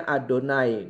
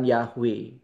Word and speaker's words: YHWH: YHWH itu dibacanya Adonai, bukan Yahweh.